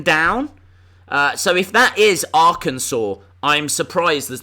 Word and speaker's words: Arkansas: But it's pronounced Arkansas. Don't ask why.